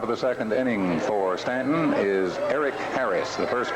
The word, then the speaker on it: Staunton: It's spelled Staunton, and I've been guilty of calling it Staunton, but it's Stanton.